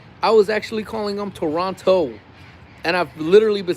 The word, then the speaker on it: Toronto: Um, but did y'all know that T was silent in Toronto? So, it's Toronto. I had no idea.